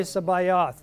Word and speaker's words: Sabaoth: Kadosh, kadosh, kadosh Adonai Sabaoth. The T is silent.